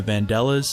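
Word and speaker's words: Vandellas: in the street originally by martha and the vandela's i believe it's pronounced but eddie couldn't figure out how to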